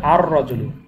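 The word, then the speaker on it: الرجل: রজুলুন, তাহলে আলিফ লাম যুক্ত হলে হবে আর রজুলু, আর রজুলু।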